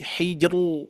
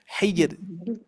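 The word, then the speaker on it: حجر: dari berbagai guru Ternyata ada yang tebal gu ya jadi eh dibacanya adalah qamul Hijr Hijr itu ya harusnya dibaca Hijr tipis gu ya oke ah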